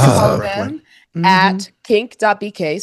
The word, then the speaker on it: QNCC: My shout out this week goes to the Queer Nightlife Community Center, which its acronym spells QNCC or pronounced Kink.